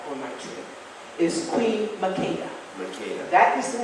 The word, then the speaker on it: Makeda: Makeda, which is the way they pronounce it in Ethiopia, not Makeda.